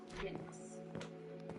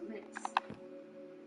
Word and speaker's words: Mx: Unabridged in 2016, and it's MX, pronounced mix, and it's to kind of be the honorific functions as a gender neutral alternative to titles like Mr. and Miss. So mix.